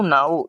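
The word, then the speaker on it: know: देखिए इसमें केम यहां पर टू इसको नो कहेंगे। नो क्यों भाई? ये के क्या होता है भाई? साइलेंट होता है।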